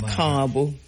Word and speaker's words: Carbo: So the A is long. So car and then a bo short. So it's Carbo.